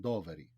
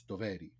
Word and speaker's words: Doveri: I was saying Doveri. Okay. And he was like, no, it's Doveri. And then sure.